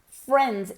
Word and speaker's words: friends: La I es muda. Friends. Ignore it, okay?